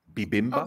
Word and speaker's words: bibimbap: I Yeah, like and bibimbap.